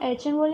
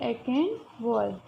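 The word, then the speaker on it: Achenwall: Gottfried एचेनवर्ड ने, इसको हम एचेनवर्ड या एकेनवर्ड भी कह सकते हैं, गॉटफ्रीड एकेनवर्ड ने 1749 में जर्मन शब्द स्टैटिस्टिक्स का यूज़ किया था। फ्रेंड्स, आप अगर यूट्यूब पे या कहीं पे भी इसका प्रोनाउंसिएशन देखते हैं तो जैसे जैसे चैनल चेंज होती है ऐसे ऐसे हमें प्रोनाउंसिएशन में भी चेंजेस देखने को मिलते हैं। अभी हम इसको बोलेंगे गॉटफ्रीड एकेनवर्ड।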